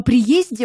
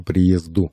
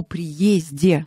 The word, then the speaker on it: приезде: языка - это предвосхитить по приезде в Москву по приезду норма русского языка по приезде Ну вот по приезду